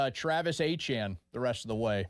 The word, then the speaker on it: Achane: Yeah, it looks like A-Chain, but it's Achane.